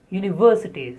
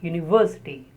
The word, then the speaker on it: university: The next is university. Stress on V. University.